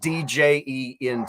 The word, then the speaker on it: djent: Djent is spelled Djent. Yeah, so it's like djent, but so if my general thought is if you try to pronounce the D, you'd get a djent rhythm, right?